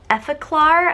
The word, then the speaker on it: Effaclar: the L Ro POS effaclar I think is how you pronounce it EA I I